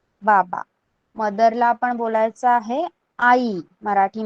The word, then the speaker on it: आई: Mother, माता, माताजी कहते हैं हम हिंदी में, त्याला मराठीत आई म्हणतात. ओके, मदर, मदर को मराठी में आई कहते हैं. आपको प्रोनाउंस करना है.